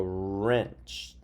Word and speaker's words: wrench: hmm this is a wrench wrench is spelled WR e r and i'm setting it out wrin and CH wrench and this is a wreath